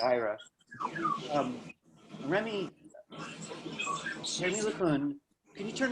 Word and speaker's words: Ira: I'm so bad at pronouncing names, and I'm used to people calling me Ira and Ira. By the way, it's Ira.